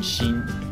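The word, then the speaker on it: 森: But like, I didn't know before this game, I didn't know that Mori, the kanji for forest, could also have the pronunciation Shin.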